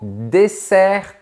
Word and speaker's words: dessert: Passons au dessert traditionnel. Tout d'abord, attention à bien prononcer ce mot. Un dessert, ça n'a rien à voir avec un désert comme le désert du Sahara.